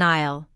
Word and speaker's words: aisle: does which task I'll notice the silent s in aisle an isle is an